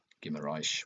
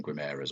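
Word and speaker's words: Guimarães: person triple captained um Gimarish which I think is the correct pronunciation gimarish. Wow. Um because everyone's just been saying gimas or whatever haven't they and I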